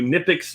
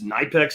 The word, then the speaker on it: Knipex: along with my review of these uh new niix Knex I've heard them pronounced both ways but I love these things